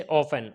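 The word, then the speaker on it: often: इसी तरीके से ऑफन, ऑफन में क्या है, TEN एक साथ है तो यहाँ पर क्या होगा, टी साइलेंट हो जाएगा।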